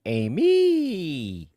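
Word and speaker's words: Aimee: Because I mean, if you look at me, honestly, it should be pronounced Amy.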